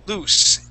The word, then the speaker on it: loose: So, loose with the double O, loose, and the unvoiced S.